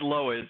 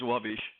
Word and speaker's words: Lowisz: Uh let's The American way is Lowish. The Polish way is Lowisz.